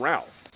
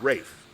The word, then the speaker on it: Ralph: incomparable race times uh it's spelled Ralph but he's too good for that these Ray fines you don't call them Ralph he's Rafe and he's brilliant absolutely fantastic